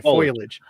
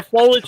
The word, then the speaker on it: foliage: Why is it so hard for me to say foilage?